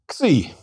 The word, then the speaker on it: Xi: Xi is a double consonant equivalent to X, that is a K and S sound, and pronounced like the X in box.